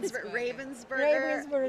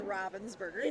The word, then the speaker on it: Ravensburger: I feel like but I believe it is Robins Burger technically but a lot of Americans say ravensburg yeah whoever predicted 38